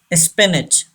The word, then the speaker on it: spinach: Spinach. This A gives the sound of E.